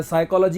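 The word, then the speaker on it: psychology: कि फाइकोलॉजी में पीओएस मैं तो पी साइलेंट होता है बट स्पेलिंग इसको इसको चांद सोता है साइकोलोजी होता है पी होता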